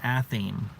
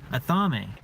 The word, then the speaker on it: athame: called an athame but people will say an a theme because they look at it and the way that the word is written it looks like a theme but it's a thumbing there's a bunch of words